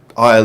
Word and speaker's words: I'LL: intention behind that but when you say it it it's just syllable aisle aisle it doesn't leave much of an impression it kind of zooms by and you can hear it as like oil is in uh Isle in the supermarket or if you're English